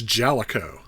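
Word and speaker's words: Jaleco: you hear that I finally know how to pronounce this it's jalo anywh who brawl Brothers was developed and published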